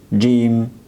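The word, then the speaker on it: ج: Jim, it gives us sound of J, J, like the word jam.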